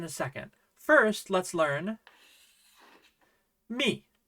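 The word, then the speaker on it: ミ: First, let's learn mi.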